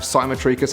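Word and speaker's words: cymotrichous: So some of you guys that are watching this might actually have simotricus hair. And this word is spelled C Y M O T R I C H O U S.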